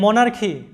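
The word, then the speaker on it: monarchy: এরপর দেখো যে মনার্কি, মনার্কি, যেটার বাংলা অর্থ হচ্ছে রাজতন্ত্র। অর্কেস্ট্রা, লক্ষ্য করো শব্দটা অর্কেস্ট্রা, শব্দের উচ্চারণটা হবে অর্কেস্ট্রা, এরকম, যেটার বাংলা অর্থটা হচ্ছে বাদক দল।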